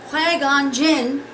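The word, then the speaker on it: Qui-Gon Jinn: of the Jedi that I refer to is quagon Jin um so sorry I mispronounced that especially to those who love Star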